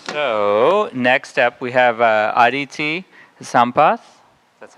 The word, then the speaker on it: Aditi Sampath: So next up, we have Aditi Sampath.